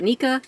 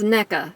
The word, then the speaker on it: NECA: o'neil from neca and i've been calling it nika and that wasn't supposed to be a joke about their knee articulation it was just that i didn't know how to pronounce it right so it's neca right not nica also does it matter